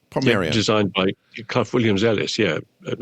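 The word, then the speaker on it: Portmeirion: Port Merion. Port Merion.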